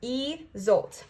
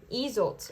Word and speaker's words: Isolt: So let's go ahead and see what Isolt has to say. Also, if I'm saying it right. Pronounced E-Zolt. See, I was not saying it right. E-Zolt.